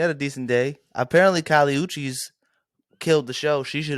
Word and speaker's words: Kali Uchis: Apparently, Kali Uchis killed the show.